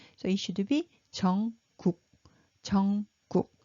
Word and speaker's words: 정국: And at the bottom, it pronounced as 크 sound. So it should be 정국, 정국, not 정쿡, because you don't see any 크 here.